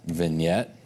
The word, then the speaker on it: vignette: I'll even label this vignette not spelled like it sounds I can spell today